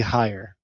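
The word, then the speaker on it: Haier: people know the name, but they don't know how to pronounce it, and it's actually Hire.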